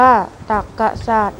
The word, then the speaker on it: ตรรกศาสตร์: นะ ครับ อ๋อรู้ แล้ว คำ ว่า ตรรกศาสตร์ อ่าน ว่า ตรรกศาสตร์ หมาย ถึง ปรัชญา สาขา